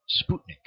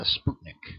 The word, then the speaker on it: Sputnik: she she kind of put the emphasis on Sputnik I think it's how she said it Sputnik well what's a Sputnik or Sputnik all right it's an artificial satellite